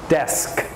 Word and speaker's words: desk: Todd desk ha-huh desk desk very good Tanya Tucker very good perfect desk okay the S sound it must be pronounced desk okay all right okay